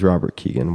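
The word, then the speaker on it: Robert Kegan: love to ask you maybe in closing about Robert Keegan. Am I getting the pronunciation of that name correct? Yeah. Who is Robert Keegan?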